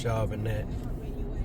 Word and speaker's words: Charbonnet: That's Charbonnet. They say Charbonnet. It's spelled Charbonnet.